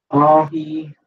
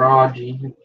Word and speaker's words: aji: Then he's doing Ahi Rainforest, Ahi Mango, Ahi Sunrise, or Aji, however you want to pronounce it.